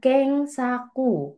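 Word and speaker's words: 検索: Ingat kalau ada pencarian tanda pencarian di sini di internet ini bacanya keng saku.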